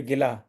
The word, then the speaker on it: गिला: जो भी कहना चाहे तो जैसे गिला गिला शिकवा तो गिला हुआ ग पर ई की छोटी मात्रा तो ग पर बहुत भार नहीं देना गिला और गीला यानी जो ये य वस्त्र गीला हो गया बरसात में राइट तो गीला तो